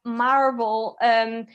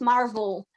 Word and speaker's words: marvel: So perhaps when you see words with a V, try to pronounce it more like a V rather than an F, because sometimes it can be hard to understand. So it's marvel rather than I don't know, whatever.